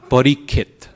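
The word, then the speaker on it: परीक्षित्: So instead we get rid of the sha, parikit.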